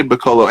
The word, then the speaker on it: Bacolo: Adrian Bacolo or Bacolo, I always mispronounce his name. So we say Bacolo.